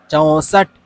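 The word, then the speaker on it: चौंसठ: 6 നമ്മൾ വായിക്കുന്ന സമയത്ത് ഇവിടെ ഒരു പുള്ളിക്കുത്ത് ഉള്ളതുകൊണ്ട് ചോസട്ട് എന്ന് വായിക്കുന്നതിനേക്കാളും നമ്മൾ വായിക്കേണ്ടത് എന്ന് വെച്ചാൽ ചോസട്ട് ഒരു എൻ അല്ലെങ്കിൽ എൻ എന്ന് ഒരു സൗണ്ട് നമുക്ക് ഉച്ചാരണം ആയിട്ട് വരുന്നത് ഓക്കേ ചോസട്ട് 6 6 സഡ്സട്ട് അഡ്സട്ട്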